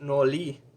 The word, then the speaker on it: nori: like a sheet of rice on on the nori but it's actually pronounced no lee because they don't use the r in [